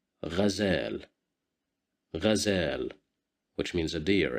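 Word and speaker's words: غزال: Here we have Fatha at the top of the letter Ghain, so we will pronounce it as Ghazal, Ghazal, Ghazal, which means a deer, as you see.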